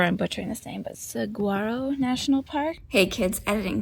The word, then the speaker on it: Saguaro: couch um it's pronounced swaro and so the g is silent not silent it's not a hard G it's like a w instead but you say it